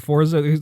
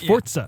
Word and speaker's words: Forza: me that that actually the correct like pron pronunciation I guess you say of the word Forza I'm used to saying Forza is actually it's Italian it's fortza yeah it's like almost like a silent te